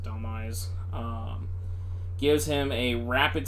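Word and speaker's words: Dhelmise: well um Thriller taking Del or Delise however you want to pronounce it I pronounce it Delise um gives him a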